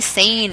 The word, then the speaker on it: Sein: We have Bonnie Sane is joining us from Australia.